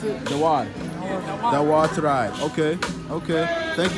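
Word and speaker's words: Dauar: Dawar? How do you pronounce it? Dawar.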